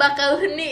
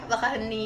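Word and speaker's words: Bakauheni: Nah, gua pikir lo Gimana orang gila bacanya? juga. Bakahuni ya, Bakahuni.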